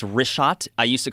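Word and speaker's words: Richat: couple uh I just want to say it's wrist shot I used to call it rick hot I was mispronouncing it but let me ask you this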